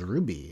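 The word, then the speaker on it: RWBY: uh big thing is Ruby is back R WB on um for those who are not familiar as how it's spelled uh on Saturday and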